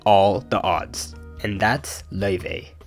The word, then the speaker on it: Laufey: Because jazz was struggling, but one person beat all the odds, and that's Laufey. She's Icelandic Chinese, if you're wondering why it's pronounced like that.